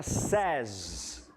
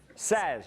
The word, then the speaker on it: says: Terceira pessoa a pronúncia fica Ses. Ses. Não tem a praça da Sé. Se tivessem duas, seriam as SES, tá?